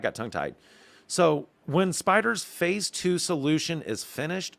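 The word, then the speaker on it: SpyDR: our various planning artifacts project y can now be referred to as spider and yes it is spelled as capital s p y capital d r so again one word i see multiple things in that especially when you throw that logo to it so spider will be a major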